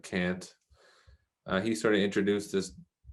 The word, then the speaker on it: Kant: me of i think it was kant or kant however people pronounce it i pronounce it can't he sort of introduced